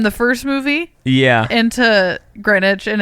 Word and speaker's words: Greenwich: and then finally Thor and Jane arrive in Greenwich which is where Greenwich Greenwich oh say it like they do whoops and